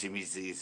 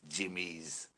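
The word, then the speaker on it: Jimmy'Z: Actually, it wasn't pronounced Jimmy Z's, it was Jimmy's. the correct. If you knew anybody that skated for him, it was Jimmy's, not what the hell?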